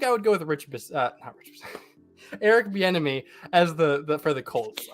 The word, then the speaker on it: Bieniemy: Is Chiefs offensive coordinator Eric Bieniemy? I think is how it's pronounced. That's exactly how you pronounce it.